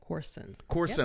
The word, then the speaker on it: Corson: Corson. Yep. I said it the right way. See, I'm so busy hosting shows and mispronouncing people's names that I don't know if